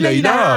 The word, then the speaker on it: Layla: Ah, Laïla, Ah oui, bah oui, oui, c'est Laïla.